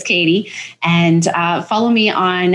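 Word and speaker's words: Kady: Katie mindset coach now my name is spelled k a d y you're not going to think it's Katie but it is Katie and uh follow me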